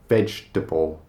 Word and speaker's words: vegetable: It looks like there should be a lot more sounds and syllables going on in this word, but we don't pronounce it vegetable or vegetable or vegetable. It's just vegetable.